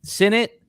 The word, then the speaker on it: Sinnott: So so Sinnott, Lob, not Lobby. Yeah. Flournoy. Yeah. What are some other common mispronounced names this year?